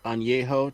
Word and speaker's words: Añejo: I'm drinking Casamigos Añejo tequila. Nice. A little sipping tequila. Anejo?